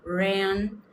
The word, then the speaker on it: ran: Lembra que quando começa com R no inglês, faz aquele R retroflexo, né? Interior, porta. Então é ran.